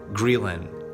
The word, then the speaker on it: ghrelin: will secrete an increased amount of hormone called ghrelin this is spelled GH r e l i n this